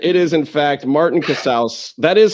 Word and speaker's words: Casaus: It's Casaus. It's not Casaus. It's not Cassius. It's not Martinez. It rhymes with house, like you're in the house of Casaus, y'all.